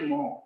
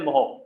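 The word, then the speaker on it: mho: 1 upon ओम इसको अपन बोल देते हैं मोह, उल्टा स्पेल कर दिया। 1 अपॉन ओम इसको बोल देते हैं मोह।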